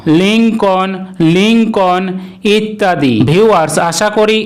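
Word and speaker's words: Lincoln: যেমন kernel, kernel এটিকে কিন্তু আমরা অনেক সময় কর্নেল অথবা কলোনেল বলে থাকি, যা কিন্তু সম্পূর্ণই ভুল উচ্চারণ। লিঙ্কন, লিঙ্কন ইত্যাদি।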